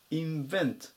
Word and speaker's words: invent: ます 857 番イベンインベントアクセントに注意ですねこの単語は